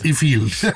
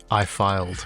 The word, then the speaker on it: Ifield: people in India, and often they get your surname wrong. Yeah. Everywhere. It's Ifield. Ifield. There you go. Okay, for the record, guys, it's Ifield. What's the funniest one you've heard? I filed. And then also I fled.